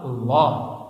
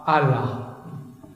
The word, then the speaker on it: Allah: Dalam bahasa Arab kalau awalnya a bacanya Allah. Kalau li lillah gitu kan. Orang tuh gak ngerti bahasa Arab diceleknya A L al l a ha. Alah Allah sudah.